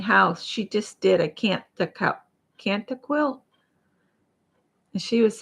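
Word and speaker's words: Kantha: she just did a can't the Cana quilt and she was saying can't the but I looked it up and it's can't T they don't pronounce the h because I was like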